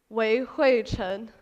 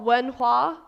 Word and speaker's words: Wei Hui Chen: So the name on my passport is Wei Hui Chen, and that's how you pronounce it correctly, Wei Hui Chen. On roll calls, I've got Wen Hua, I've got Wei Hu, I've got Wei Ho.